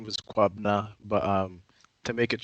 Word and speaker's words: Kwabena: name is um so the the way you pronounce my name was quabna but um to make it shorter for people